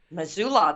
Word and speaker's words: Missoula: is part of resettlement program in missoula montana missoula that's how you pronounce it it wasn't as hard as i